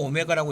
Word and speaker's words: 오메가: 한 허근을 오메가라 할 때, 자 이렇게 부를 때 W가 아니고 오메가라고 읽으면 됩니다.